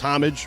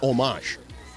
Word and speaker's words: homage: It's homage or homage. Either one. Which? English is ha and French is ah.